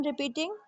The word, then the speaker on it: wrap: Once again I am repeating, WALK walk, walk में L silent है। MORE मोर, मोर में E silent है। WRAP रैप, रैप में W silent है।